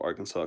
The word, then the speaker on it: Arkansas: To my knowledge, the pronunciation of Arkansas comes from French.